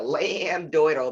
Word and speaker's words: lambdoidal: midline the lambdoidal suture i always say like a lambdoidle because that's the way you spell it lamb like a little lamb doi dal suture you know that's where